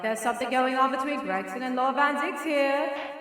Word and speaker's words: Gregson: You said Gregdon a few times. Gregdon is the inspector next to me. It's Gregson.